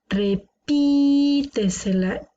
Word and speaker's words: repítesela: Repítesela. Tiene la sílaba tónica una antes de la antepenúltima. Por lo tanto, es una palabra sobreesdrújula.